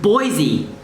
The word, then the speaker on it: Boise: city name here is in french it's pronounced as bova which means like a tree or a forest if i remember correctly okay i'll i'll put the truck i'll put the corrections in if i'm wrong but in english it's pronounced as boise which to me is